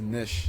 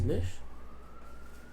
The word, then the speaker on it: niche: Is it pronounced niche or niche? Thank you. Meta is nish. Is nish.